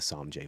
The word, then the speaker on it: Samje: And then the Samje Valley is SAMJE Valley. SAMJE. SAMJE Samje.